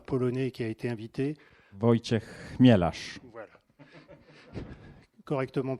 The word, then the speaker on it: Wojciech Chmielarz: Wojciech Chmielarz. Voilà. Correctement prononcé.